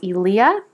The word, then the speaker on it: Eliya: Her name is pronounced Elia, which I think is so pretty.